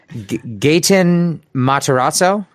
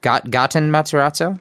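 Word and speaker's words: Gaten Matarazzo: the Stranger Things kids, and it's, uh, Gayen Mataraso. Goten Matarazzo.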